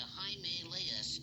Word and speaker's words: Himalaya: We're somewhere in the Himalayas mountains. That's pronounced Himalaya. Himalayas?